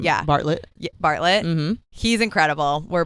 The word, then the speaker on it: Bartlett: So yeah, the two people who were on Diary of a CEO with Steve Bartlett, I believe is how you pronounce his last name. Yeah. Bartlett.